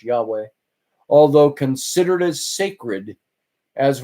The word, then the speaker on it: Yahweh: W or I'm sorry yhw H pronounced Yahweh the Hebrew name Jehovah